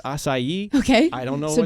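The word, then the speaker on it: açaí: have not it's it's spelled strawberry aai but pronounced assai okay I don't know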